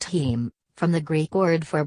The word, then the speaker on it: heme: 7 team not available to buy yet heme pronounced heme from the Greek word for blood - is